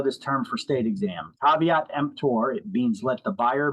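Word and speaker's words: caveat emptor: t let the buyer beware that's how you pronounce that it's not KV empor it's caveat empor it's it's Latin it means let the buyer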